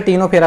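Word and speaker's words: Ctenophora: Phylum टिनोफेरा में दोस्तों ये हमारा क्या है, टी साइलेंट है, ठीक, सी साइलेंट है, ठीक है, इसे टिनोफेरा बोलते हैं, फाइलम टिनोफेरा।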